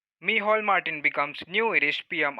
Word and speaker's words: Micheál: Micheál Martin. This word is pronounced as Micheál in Irish pronunciation. So the note here is Micheál Martin has been elected